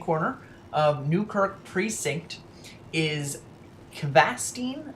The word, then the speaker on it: Kvassten: So spawning here on the bottom right hand corner of Newkirk Precinct is Kvassten, I believe is how you say it, and he'll be spawning again as our blue Terran player.